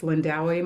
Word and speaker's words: Lindawi: Um if you ever feel nervous pronouncing my name for any of you that may meet me in this world, um you can always call me, but of course my preference is Lindawi.